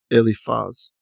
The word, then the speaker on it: Eliphaz: I think I said his name wrong up here. Eliphaz.